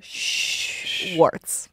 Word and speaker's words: Schwartz: say it I said Schwartz it squirts no she's worse now I'm in my head okay like like shh like you're a librarian Schwartz Swartz I have my